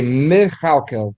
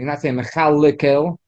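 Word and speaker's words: מְכַלְכֵּל: Let's say Mechalkel. Let's open to rounding. Mechalkel, the first one, the Shva, you're pronouncing the Me. Chal, the Lamed has a Shva also, but you're not saying Mechalekel.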